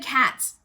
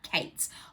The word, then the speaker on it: Kates: assault sorry i said cats she says multiple times in the book about that she gets frustrated people don't pronounce her name correctly it's not pronounced cat it's pronounced kate's laurie kates so oh